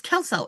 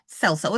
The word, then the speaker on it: Kelso: Kelso. It's Kelso. It's not Celso. It's Kelso. I knew it's a hard C.